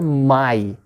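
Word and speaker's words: Mai: you know always ooh so ah plus e is also i okay so look at here my my or hi hi means shark my means may white okay hoyt that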